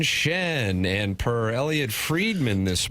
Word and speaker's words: Schenn: coming for the C you can't say Braden Sheen just because it rhymes with something else but you can say Braden Shen and per Elliot fredman